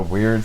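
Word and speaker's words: Wyrd: no I looked it up it was the Weird Sisters and there's actually a band and Canada called The Weird Sisters they spell it WY Rd weird now it's pronounced weird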